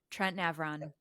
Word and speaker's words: Trent Navran: So Trent Navran, is Yeah. that's the right pronunciation? Trent Navran.